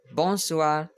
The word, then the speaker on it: bonsoir: to 11 59 and it's pronounced as bonsoir bonsoir in french okay it's pronounced bonsoir